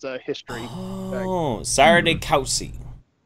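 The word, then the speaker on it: Sire de Coucy: It's pronounced Sire de Couchy, but say it however you wish.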